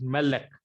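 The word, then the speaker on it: מלך: Now, this Millel example I have given you here is Melek. The accent fall on next to the last syllable, that is called Mil-El.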